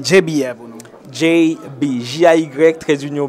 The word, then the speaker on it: Jay-B: Et est-ce qu'on peut prononcer JB pour nous? JB, J-A-Y trait d'union B, tout simplement.